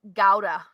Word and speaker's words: Gouda: So Luciano says top secret Gouda is pronounced Gouda with the harsh G.